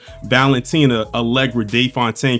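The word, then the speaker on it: Valentina Allegra de Fontaine: So, the story actually begins with C CIA director Valentina Algra Day Fontaine cuz she never stops allowing you to know that is her name and that's how you pronounce her name.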